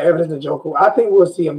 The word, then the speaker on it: Evidence Njoku: Evidence Njoku.